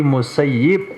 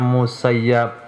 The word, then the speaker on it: Musayyib: Yap yang disia-siakan tapi musayyib yang menyia-nyiakan itu sebabnya para secure hadit menyampaikan kepada murid dan muridnya secara bersanad di tulisannya musayyab bacanya musayyib supaya tidak kena kualat